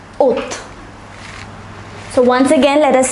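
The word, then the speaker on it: août: is pronounced as Julie August is pronounced as oath so once again let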